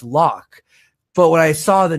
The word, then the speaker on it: Locke: And the character Locke, as a kid, I pronounced it Loki because I had the E at the end for my entire life until I was a few years ago. My buddy's like, Loki, no, it's Locke.